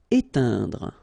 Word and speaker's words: éteindre: Éteindre. Okay, keep in mind that when you get this E, I, N together, it will produce the sound un. Éteindre. Okay, don't insist on this final here. Éteindre.